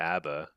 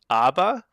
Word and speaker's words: ABBA: Okay, I guess I guess people are vetoing the ABBA.